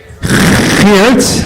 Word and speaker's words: Geert: Geert? Wilders. What, did I say it right? Wow, you're giving me credit for correct pronunciation.